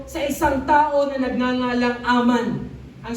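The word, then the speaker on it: Haman: ay mae-introduce tayo sa isang tao na nagngangalang Aman. Ang spelling niya is H A M A N. But to pronounce it is Aman.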